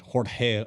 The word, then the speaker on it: Jorge: His name's George Jorge Arroyo. That's how he likes it being pronounced.